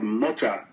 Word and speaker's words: Mothra: podcast was admin Mothra, who I've actually called Motra because that's how they say it in the movies, Motra.